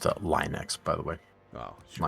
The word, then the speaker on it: Linux: Well, it's pronounced Linux, by the way.